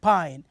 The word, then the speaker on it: pine: and we say also Pine why do we say Pi in here why do we pronounce the I as I you know to see there is an e at the end so if there is